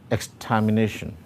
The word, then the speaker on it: extermination: Now, the stressed syllable there is nei, and therefore the option D is the right answer.